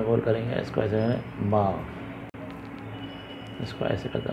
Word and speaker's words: م: एम की जो आवाज़ है, माँ माँ माँ जिसे कहते हैं, ये छोटा सा गोल करेंगे, इसको ऐसे माँ, इसको ऐसे कहते हैं माँ।